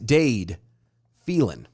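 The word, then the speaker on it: Dade Phelan: texas house speaker dave dade say it right dade felin that's right i know it is because i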